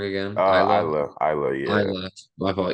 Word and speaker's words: Isla: I did not think that Alba and Elo were gonna win. Am I saying her name wrong again? Isla, Isla, yeah.